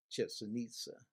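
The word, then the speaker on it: Chichén Itzá: Chichen Itza, I believe is the pronunciation of the name.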